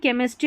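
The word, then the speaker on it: chemistry: अब यहां पर देखें स्कूल केमिस्ट्री और कैरेक्टर में हमने यहां पर इसको क पढ़ा है।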